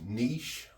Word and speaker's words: niche: there's a thing online, whether it's pronounced niche or niche. And to be honest, they're both correct. So however you say that word, niche or niche, just know that it is correct either way.